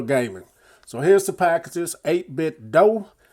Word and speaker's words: 8BitDo: so here's the packages 8 bit dough i always want to say do but i think it's pronounced dough pro 2 bluetooth gaming